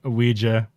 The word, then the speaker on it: Ouija: I'm not even sure how OUI makes we, but we're gonna say it is. Oui? It is. It's Is that how you French. say? Is that how you say it in French?